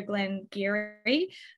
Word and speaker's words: Glen Garioch: love for you guys to pour out your Glenn Geary um and for those who haven't tried a Glengarry before it is pronounced Gary because Gaelic is the worst and